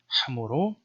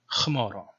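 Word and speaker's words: ܚܡܪܐ: So in the Western tradition, you would say hamuro, and in the Eastern tradition, khmaro. And the original Syriac pronunciation was probably something in between, so more like hamaro.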